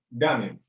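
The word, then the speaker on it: だめ: Y la R va a ser siempre suave. No va a nunca a ser una R. Así que esta palabra sería dame.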